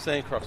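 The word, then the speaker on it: Sancroix: throw it there yeah that's actually how you spell it but now macarthur sancross would have been told by paul dilley at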